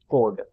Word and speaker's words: chord: आगे हमारे पास एक अगला मैथमेटिकल टर्म है जिसका नाम है कोड। ये लिखा हुआ शॉर्ट टाइप का है, लेकिन इसको हम लोग प्रोनाउंसिएशन करते हैं कि कोड है। एच इसमें साइलेंट है।